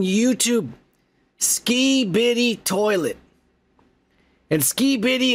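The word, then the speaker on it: Skibidi: ski bitty toilet and ski bitty is spelled like s k i b i d i space toilet ski bitty toilet and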